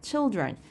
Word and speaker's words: children: children child가 children이 된다.요 발음 자체도 달라지네요. 그죠? child I 근데 children 이렇게 되고 마우스 G 한 마우스 한 마리가 아니라 자 여러 마리가 슈가 있을 때마이스가 됩니다.